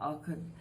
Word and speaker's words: Aachen: The pronunciation is that, Aachen.